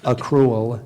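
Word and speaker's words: accrual: cruel or acrel acrel AC cruel is a secondary pronunciation A Cruel is the primary pronunciation acru a c r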